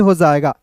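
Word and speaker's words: his: फिर देखिए एच आई एस को क्या पढ़ेंगे, हिज, एस का उच्चारण स के रूप में नहीं, ज के रूप में।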